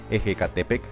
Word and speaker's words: Ehecatepec: Ecatepec, palabra que da nombre a un municipio en el Estado de México, pero cuya verdadera pronunciación en la época prehispánica era Ejecatepec o Cerro del Viento.